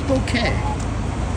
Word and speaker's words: bokeh: No, it's bokeh in Japanese.